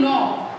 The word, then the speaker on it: knob: Now when you are writing knob, sound हमें N से start हो रही है, but the word will begin with K because K is silent here.